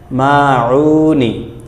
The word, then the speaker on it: الماعون: আবারও দেখুন, সুরতুল মাউনি, আইন গলা চিপ দিয়ে দুই নম্বর মাখরাজ, সুরতুল মাউনি মাক্কিয়াতুন।